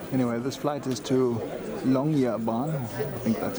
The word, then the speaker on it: Longyearbyen: Longyearbyen is how it's pronounced.